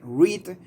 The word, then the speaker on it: read: El verbo leer. Read. In simple past, the only thing that changed is its pronunciation. Okay, so read and read. So if you say I read, yo leo. If you say I read, yo leí. El pasado cambias la pronunciación solamente.